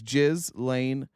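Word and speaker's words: Ghislaine: and that person is jiz Lane Maxwell and that is the correct uh pronunciation of her name just in case you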